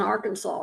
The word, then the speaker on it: Arkansas: years maybe even 20 we don't say Arkansas it's AR Kanas AR Kansas AR Kansas I said Arkansas that's not how you say it I'm going huh I said okay I don't know how I've never heard anybody call it AR Kanas before it's AR Kansas River yes it's the AR